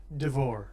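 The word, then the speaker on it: Deavor: And basically, there's this new push to try to get superheroes legal again by a guy named Winston Devor, what? How you pronounce that? Devore.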